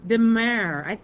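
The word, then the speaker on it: frutti di mare: It's the seafood fruity de mare, or mare. I don't know. David, you've been to Italy. Is that de mare?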